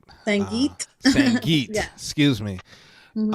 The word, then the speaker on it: Sangeet: Yeah, I remember a while ago we were talking, and you were talking about the Sangi, if I pronounced it right. Sangeet.